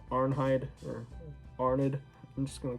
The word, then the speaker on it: Arnheid: bit of research so i think the correct pronunciation of her name is arnheid so that makes sense um arnheid her husband comes back